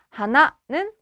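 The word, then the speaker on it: 鼻: 그치 4번은 코비 하나입니다 하나는 억양에도 주의합시다 꽃과 발음이 같지만 억양이 다릅니다 표기의 마지막 12번 문제예요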